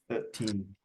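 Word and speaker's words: thirteen: This shows why it's important to put the stress on the correct syllable in 13, and the stress is on the second syllable, and in 30 the stress is on the first syllable.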